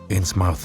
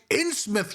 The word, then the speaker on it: Innsmouth: It is called Inmouth, you imbecile. I do not mind a lot of negative aspects from various Lovecraftian games. But he cannot even pronounce Inmouth correctly.